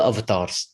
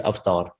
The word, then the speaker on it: avatar: We are all avatars. This, to say it properly, is avatar, right? Not avatar, right?